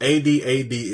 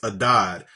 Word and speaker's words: Adad: letter is D so a d a d is adad so adad is one of the variations on the spelling of Hadad we don't pronounce that H because of the the